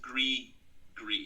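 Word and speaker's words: gris-gris: i s g r i s but it's pronounced GRE G yeah that makes sense like G it's French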